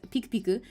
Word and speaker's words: Piku Piku: The pink one is called PK, which is Piku Piku. That's how you pronounce it.